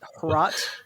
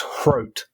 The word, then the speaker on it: Hrot: So, see, I was reading a tweet from someone who was Czech as well, I think, and they were saying it's Hrot, like rhymes with scrote.